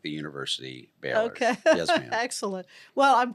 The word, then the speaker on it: Bahler: comes from oh that's great people call it baller we we don't correct them anymore because 95% of the people say baller but it's pronounced like the university Bor yes ma'am excellent well I'm glad you made